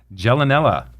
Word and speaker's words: Gialanella: Gialanella.